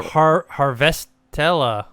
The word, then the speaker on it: Harvestella: There's this Near Harvestella game. Am I pronouncing it correct? Harvestella, yeah.